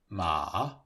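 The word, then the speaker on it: 马: Here you can see, on the left, the Chinese character for woman, and on the right, the character for horse, which is pronounced ma.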